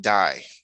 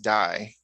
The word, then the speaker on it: Dai: it's spelled d-a-i and they pronounce it die so like the a becomes silent so I'm just I'm just saying all right so if Dai is pronounced die like the a becomes